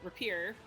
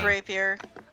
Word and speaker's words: rapier: just pull out the repair and graveyard i don't know how to say this word it's rapier anyway i'm going to